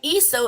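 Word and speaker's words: Esso: brand in certain States the name ESO is the phonetic pronunciation of the initials s and O in the name Standard Oil so it makes sense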